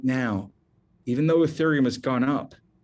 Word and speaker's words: Ethereum: and i'm going to spell that for you e-t-h-e-r-e-u-m it's pronounced ethereum if you only buy one crypto